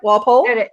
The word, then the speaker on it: Walpole: Walpole? That is correct. Okay, not Walpole or something. Yeah, No. I didn't answer that before. Or war. Some people want to put an R in there. No R.